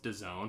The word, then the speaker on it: DAZN: and i hate it i hate that it's pronounced design but it is d-a-z-n i just i don't